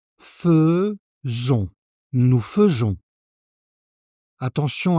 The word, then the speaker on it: faisons: Nous faisons. Écoute bien la prononciation. Faisons.